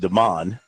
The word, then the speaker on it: Demon: defensive end demon Clowny it's spelled like demon but it's got to be pronounced Deon 66185 he's visiting USC